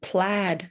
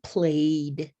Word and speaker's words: plaid: do you want a striped shirt or a plaid shirt so this word it looks like played played right a-i-a um but it's pronounced plaid plaid so um we have stripe stripe or i